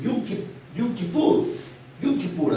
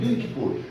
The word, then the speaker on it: Yom Kippur: Pero los judíos hasta el día de hoy celebran el Yom Kippur, así se pronuncia, hermano, Yom Kippur.